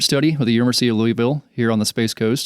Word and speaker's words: Louisville: three-year cancer research study with the University of Louisville here on the Space Coast so we are